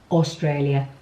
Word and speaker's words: Australia: Australia. A and U together is O.